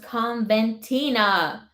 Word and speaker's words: Coventina: About goddess Coventina, pronounced Conventina.